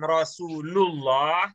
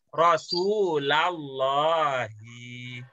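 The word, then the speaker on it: رَسُولَ اللّٰهِ: Maf'ul bi, ujungnya fathah. Jadi bukan Rasulullah, tapi Rasulallahi. Gitu.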